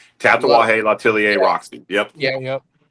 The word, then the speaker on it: Tatuaje: I can never pronounce that word. Tatuaje. No. Yeah, the Roxy. Yeah. Yep. No, so it's Tatuaje, Latelier, Roxy.